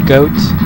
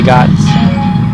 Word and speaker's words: Goht: playing around I've heard some people say uh goat because he's kind of like a goat and I heard some people say God uh I say God because that's like it's like that's how it's